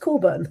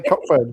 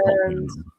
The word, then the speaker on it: Cockburn: Can confirm pronounced Coburn. I knew it was pronounced Coburn. I just wanted to say Cockburn to see if any of you Cockburn was familiar.